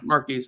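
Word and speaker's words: Marques: how to say his first name mares yeah mares okay it's called oh my gosh yeah he's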